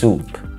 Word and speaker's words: soup: green soup. يا ما نفسي فيك يا ملوخية والله العظيم. green soup. عندنا كمان شوربة. شوربة بالانجلش اسمها soup. soup مش soap عشان في ناس بيقولوها soap.